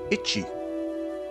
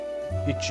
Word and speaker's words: ichi: let's try that again this is pronounced itchy think itchy itchy like something's itchy itchy balls try to forget that one kanji of the day itchy one ichi you